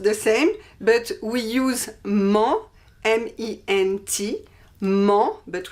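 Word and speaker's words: -ment: same but we use mo m-e-n-t mo but we don't pronounce the t we use mo at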